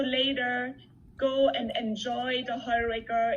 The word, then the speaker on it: Heuriger: In Austria, the word, you pronounce it, Liz. Christine and I remember it's Heuriger.